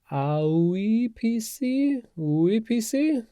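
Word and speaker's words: AUIPC: And I'm going to pronounce that like oui PC, the French oui PC.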